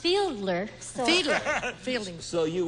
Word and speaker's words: Fiedler: I believe it's pronounced Fiedler. So Fiedler. Fielding. So you would disagree. So I would disagree with her pronouncement. Arthur Fiedler, you Right.